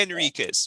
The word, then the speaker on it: Enriquez: There's no H. Enriquez. You're saying Henriquez. It's okay, Enriquez, right? There's no, that's why it says to correct the H. Addition, in other words, you're not supposed to pronounce the H.